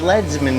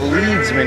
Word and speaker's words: leadsman: But it was leadsman, not leadsman, even though they're spelled the same.